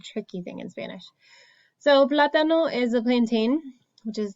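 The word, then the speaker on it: plátano: it would sound like platano but we pronounce it platano so the emphasis goes on a different syllable so that's why we put the accent there because it doesn't follow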